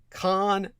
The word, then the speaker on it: Khavn: of a man named Con de la Cruz. His first name is spelled Khavn, Con de la Cruz.